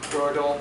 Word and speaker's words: Gödel: It's spelled G-O-D-E-L, but there's an umlaut on the O. It's like Gödel.